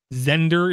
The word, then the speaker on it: Xender: It's called Zender, is how I'm going to pronounce it.